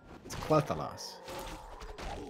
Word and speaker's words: Quel'Thalas: He says it the right way. It's Quel'Thalas.